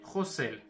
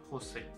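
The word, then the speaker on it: խոսել: Hayeren Khosel. Grel, c'est... Je vais prendre le rouge. Grel, c'est G-R-E. Grel. Sovorel. Je vais écrire là. S-O-V-O-R-E-L. Donc ça, c'est Sovorel. Et Khosel, ça sera K-H-O-S-L. Khosel.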